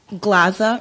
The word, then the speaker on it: Glaza: Glaza rhymed with plaza.